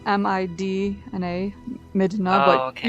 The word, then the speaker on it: Midna: Is her name Midna or Minda? Well, it's spelled M-I-D-N-A, Midna, Oh, but okay. usually when you pronounce it, you end up kind of not enunciating the D very much.